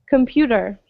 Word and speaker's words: computer: computer computer good computer and if you'll notice also a lot of times we pronounce the t's especially in american english more as a d right so we don't say computer we just say computer computer okay uh questions